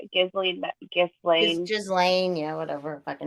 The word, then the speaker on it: Ghislaine: Like, what was that the Maxwell Gisley? How do you say it? Ghislaine, yeah, whatever her fucking name is.